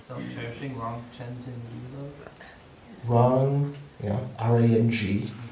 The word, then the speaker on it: Rang: Rang, R-A-N-G. Like if we're just, you don't mean in Tibetan, you mean like phonetically, right? Yeah. R-A-N-G, Rang, not Rang, as in wrangling and ding-dong.